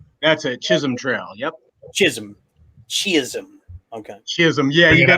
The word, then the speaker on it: Chisholm Trail: Chisholm.